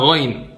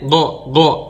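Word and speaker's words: غ: Jadi salah lah kalau orang bilang gha itu bacanya go. Kalau go itu berarti dia di sini dong posisinya sama kayak qaf. Dan sebagian orang ngomong go itu kayak huruf g. Goin itu kayak huruf kaf.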